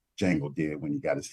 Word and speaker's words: Django: those demons back like Django did when he got his hands on that whip. The D is silent.